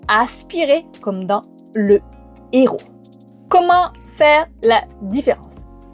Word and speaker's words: héros: Le H aspiré, il est là, on ne le prononce pas mais il bloque la circulation. La circulation de quoi ? Il empêche les litions et il empêche la liaison. C'est le cas du mot héros.